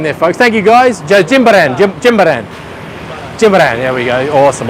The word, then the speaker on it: Jimbaran: So Jimbaran.